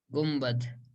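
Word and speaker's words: گنبد: तो असल में तो हिज्जे हैं आपकी उर्दू में इसकी गुनबद, गाफ नून बा और दाल, गाफ नून बा और दाल, लेकिन पढ़ते हैं गुम्बद, इसमें वो इक़लाब का कायदा होता है।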